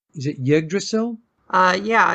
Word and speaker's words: Yggdrasil: Is it Yggdrasil? Yeah, it's either that or Yggdrasil. I believe the Y is pronounced like an I. Oh, Yggdrasil. Yggdrasil.